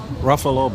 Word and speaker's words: Ruffalo: What What will Mark Ruffalo, however the he pronounces his name, Mark Ruffalo. Yeah. Ruffalo. Buffalo.